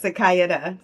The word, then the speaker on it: Sikaiadah: Sikaiadah. 4 syllables. You're correct.